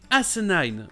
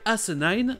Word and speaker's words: asinine: Vous avez donc asinine au Royaume-Uni et asinine aux États-Unis. Mais si vous n'entendez pas la différence, c'est normal, c'est la syllabe qui n'est pas accentuée, donc elle est moins mise en avant que les deux autres.